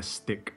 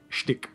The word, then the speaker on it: shtick: That was their stick. Shtick. Rather not stick.